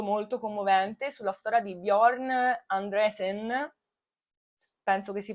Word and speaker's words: Bjorn Andresen: Bellissimo documentario, è davvero molto molto commovente sulla storia di Bjorn Andresen. Penso che si pronunci così, so pronunciare meglio il tedesco, lo svedese, il norvegese che l'inglese, muoio.